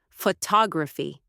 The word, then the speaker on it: photography: For example, in the word photograph, we stress the first syllable, photograph. But when we add a suffix, the stress shifts, photography.